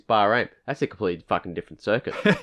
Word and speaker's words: Bahrain: was wrong last week you were saying Barry Graham and I was like no it's ain't Bahrain I was like it's Bahrain that's a complete [